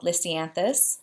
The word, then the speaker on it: lisianthus: on the crepe paper kind of die called lisianthus and that is how you say it I